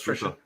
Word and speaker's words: Tricia: I think it's Trisha. It's spelled Tricia. That's Trisha Fukuhara.